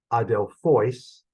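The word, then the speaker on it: ἀδελφοῖς: that's all pretty straightforward Adele fois okay the accent is on the last syllable it's a long syllable and it is dative so it's going to get the circumflex and again okay Omicron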